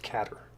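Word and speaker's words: cadr: car of the cutter it's pronounced caterer and I don't need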